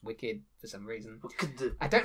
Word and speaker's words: WCKD: who's the head of wckd which is pronounced wicked for some reason i